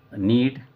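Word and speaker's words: knead: नीड, इसमें के silent है, नीड, नीड मीन्स होता है गूंदना, आटे को गूंदना, और नीड, नीड मानी आवश्यकता।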